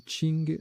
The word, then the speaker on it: king: King, qui se prononce aussi Qing, adjectif d'une dynastie chinoise du XVIIe au XXe siècle.